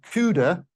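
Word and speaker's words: QUDA: Extremely confusingly, within Lattice QCD, there is a variant of CUDA called CUDA, spelt with a Q, quantum, which has lattice field theory operations built into it.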